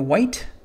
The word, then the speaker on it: Wight: We're going to be painting the white. I think that's how you say it. W-I-G-H-T.